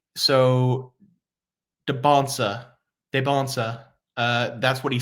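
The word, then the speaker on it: Dybantsa: So Debonsa. That's what he said. He said the T is silent, so that's what I'm going to go with.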